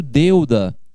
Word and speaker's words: deuda: Quando eu pronuncio deuda, eu pronuncio na mesma sílaba de uma só vez o E e o U.